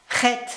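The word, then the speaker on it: Het: Ret, alors ça se prononce en fait comme la rota espagnole.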